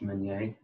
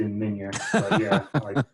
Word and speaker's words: Meunier: the ethnicity of that so it's a french last name actually in french it's pronounced magne i say it like that vignette sure i like it it's been americanized to menya three generations ago it was menya and that is a very